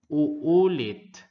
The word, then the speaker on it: uulit: When a word has multiple vowels, pronounce each letter separately.